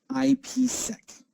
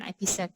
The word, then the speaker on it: IPsec: Does Moxa see more people using OpenVPN or IPsec? I don't know if I pronounced that right.